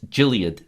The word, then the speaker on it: Gilead: gild is uh it's it's Gilead science but I call it guild because the ticker symbols guild I'm mispronouncing this word it's Gilead science but